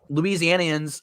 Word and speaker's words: Louisianians: a week off and you're having snow which louisianians is that how you say it yep don't